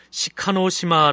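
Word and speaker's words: 志賀島: 일본어 발음 으로 는 시카노시마 라고 합니다 .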